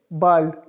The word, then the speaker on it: bald: I s be a LD this ball miss bald bald means soon and for see you miss words